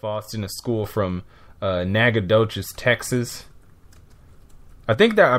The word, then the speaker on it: Nacogdoches: At least I think I did, because I think that's the pronunciation there. But Nacogdoches, Texas, that's where Stephen F.